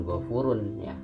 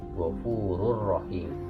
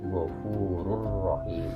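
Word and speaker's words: غفور رحيم: langsung aja dimaksudkan corrpro dibaca bukan gua purunnya tapi di sini bacanya gofururohim dibaca gofururohim purohit berikutnya ikhfa dan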